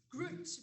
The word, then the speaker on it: Groot: It's Groot, because it must rhyme with roots.